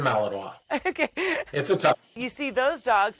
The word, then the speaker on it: Malinois: that German Shepherd or the bellinois is it how you pronounce it the bellinois yep Belgian Malinois okay you see those